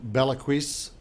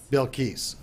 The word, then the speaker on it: Bilquis: us I have hahnel what a day with Bella crease on the show with me today Hana I probably mispronounced that didn't I yes I will tell them I love how you really say it bill keys all right Hana I've tasted this it's amazing